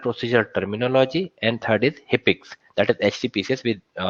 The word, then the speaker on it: HCPCS: Second is CPT, that is Current Procedural Terminology, and third is HIPICS, that is HCPCS, we pronounce it as HIPICS.